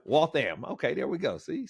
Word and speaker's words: Waltham: about just being a guy from walam that's how you pronounce it right Waltham walam so walam okay there we go